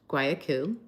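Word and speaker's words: Guayaquil: Anyway, this was the same Ecuadorian port city, pronounced Guayaku, where my father had docked not quite two months earlier.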